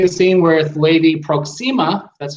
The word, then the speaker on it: Proxima: In the beginning of the scene with Lady Proxima, that's how you say her name, before Han